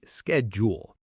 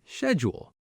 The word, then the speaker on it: schedule: American speakers often say schedule while British speakers often say schedule. Both are correct, just regional differences.